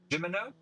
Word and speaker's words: Gimeno: Joseph Gimeno is how we'll pronounce that.